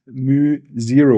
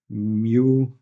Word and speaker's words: mu: And this integral gives you the value of the current times some constant which is here written as mu0 or mu n.